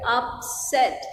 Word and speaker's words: upset: Okay, then we are saying that it has two syllable upset and the syllable and stress is also on the second syllable upset.